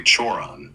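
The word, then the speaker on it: Cioran: Emil Curon, pronounced roughly Churon, is a fascinating case because his philosophy is so bleak, yet his personal life wasn't as grim as you'd expect.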